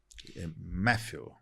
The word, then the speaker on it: Mathieu: O Mathieu Matthew, né? Outra pronúncia.